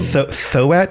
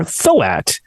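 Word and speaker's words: Tho'at: Thoat? It's THO apostrophe AT. Thoat. Again, my pronunciation. Well, I'm just reading it. I'm spelling it out so everybody knows. Thoat?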